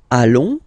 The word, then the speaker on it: allons: Then nous, so we, plural form, nous allons, okay, and if you, so final S not pronounced, and then if you